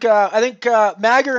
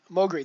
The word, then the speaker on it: Mogri: I think Magger and I, or Mogri, that's the way to pronounce it.